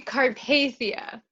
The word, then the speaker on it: Carpathia: Is that how you say it? No, actually. She's like, that's complete. I'm already it is over wrong. 1. It's actually Carpathia. Carpathia. I suck.